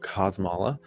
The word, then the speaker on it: Kosmala: My name is Kosmala. Yeah, that's the right way to say the name. I get it said a number of other different ways. It's Polish.